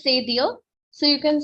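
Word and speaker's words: cédille: That's or Francais it is c'est dire.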